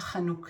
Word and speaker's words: Hanukkah: .לאתר בתיאור של הסרטון The holiday of Hanukkah khag ha-kha-noo-kah o חג החנוכה או in one